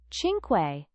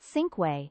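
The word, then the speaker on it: cinque: Chinquay, I said quietly, correcting him before I could stop myself. It's<unk> Chin Quay, not Sinquay. The sea is soft before an eye.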